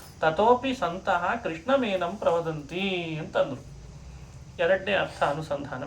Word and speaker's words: ಕೃಷ್ಣ: ಇದು ಯಾವುದು ಸರಿಯಾದ ಪ್ರೊನೌನ್ಸೇಷನ್, ಸರಿಯಾದ ಉಚ್ಚಾರಣ ಕ್ರಮ ಅಲ್ಲ. ಕ ಅದು ಕಂಠಾಕ್ಷರ, ಶ ಅದು ಮೂರ್ಧನಾಕ್ಷರ, ಇಲ್ಲಿಂದ ಬರಬೇಕಂತೆ ಮೂರ್ಧನಾಕ್ಷರ. ನ ಇದು ನಮ್ಮದೇ ಅನುನಾಸಿಕಾಕ್ಷರಗಳಲ್ಲಿ ಇದೊಂದು ಣ. ವರ್ಗೀಯ ವ್ಯಂಜನಾಕ್ಷರಗಳಲ್ಲಿ ಟಕಾರ, ಟವರ್ಗದ ಕೊನೆಯ ಅಕ್ಷರದಲ್ಲಿ ಬರೋ ಣ, ಅದನ್ನೇ ಹೇಳಬೇಕಾಗ್ತದೆ.